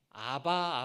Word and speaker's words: 아바: 않습니까 여러분이 성경을 보면은 아바 아버지라는 표현이 있어요이 아바 아빠라는이 말이 우리나라랑 똑같이 발음이 돼요 그리고 그 말은 아버지를